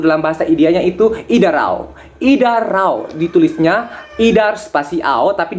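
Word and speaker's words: इधर आओ: Idarao, ditulisnya idar spasi ao, tapi dibacanya idarao.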